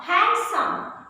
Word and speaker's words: handsome: these words are handkerchief in this word d is silent now handsome again and then sandwich so take care